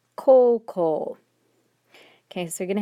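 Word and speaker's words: こうこう: it with the o's it's ko uh but pronounced coco okay so you're going to have to make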